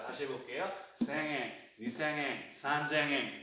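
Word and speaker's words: 三千: 3000, 산, 쟁. 발음 바뀝니다. 산쟁이에요, 산쟁. 그러면 몇 천은 뭐다?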